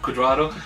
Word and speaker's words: Cuadrado: The other man we had as well was Cuadrado, as you mentioned. Yes. Am I pronouncing that? Yes, Cuadrado.